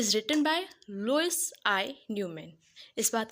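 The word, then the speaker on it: Louis: बात का ध्यान रखिएगा लुईस एक फ्रेंच वर्ड है बेसिकली इसे फ्रेंच में लुई कहते हैं एस साइलेंट है तो इट्स अप टू यू आप इसे लुईस प्रोनाउंस करें या लुई प्रोनाउंस करें नाउ द पोयम ई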